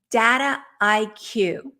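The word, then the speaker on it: Dataiku: want to make sure I say it right data IQ and that's d-a-t-a-i-k-u and that is a data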